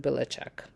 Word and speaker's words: Belichick: same last name, but I think his they pronounce it Belichick, and it is spelled a little bit different, but only because it got changed when his ancestors moved to U.S.